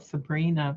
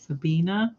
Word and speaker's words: Sabina: that you were making I'm gonna say it wrong Sabina I want to call it Sabrina but I know that's not it Sabina skirt I think is